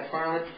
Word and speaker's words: MacFarlane: Am I pronouncing his name properly? Yeah. MacFarlane.